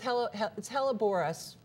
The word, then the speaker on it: Helleborus: not Boris, it's spelled Boris. It's Helleborus, but we hellebore. Just call it common.